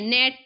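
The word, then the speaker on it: gnat: which letter is the silent जी लिखा हुआ है बट हम जी को नहीं पढ़ते हैं नेट पढ़ते हैं नेट नेट क्या पढ़ते हैं नेट पढ़ते हैं आपका जी साइलेंट हो जाता है देखिए सन 2023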